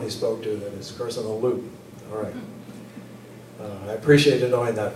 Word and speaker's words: Kurşunoğlu: that told me that you don't say the name personal glue do not pronounce the gym so he was a